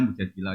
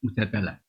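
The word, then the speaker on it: مجادلة: Yang benar itu bacanya mujadilah yang level A. Tapi umumnya orang baca apa? Mujadalah.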